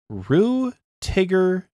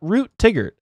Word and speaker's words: Rue Tigger: Seppi J again, MJ Still, and the proper way to pronounce the name, Rue Tigger T35. Not Root Tigger, as we have been saying.